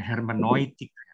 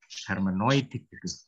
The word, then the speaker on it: Hermeneutik: kalau cara baca Jerman ya hermanoid hermanoid tapi kalau latin ya Oke jadi salah satu